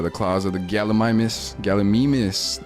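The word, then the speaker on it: Gallimimus: Galamimus, that's how they pronounce it in this game.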